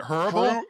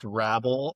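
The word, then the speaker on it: Hrabal: Is it horrible? Horrible? Horrible? It's correctly pronounced Rabol, but I hate that, so I just call him Rabol.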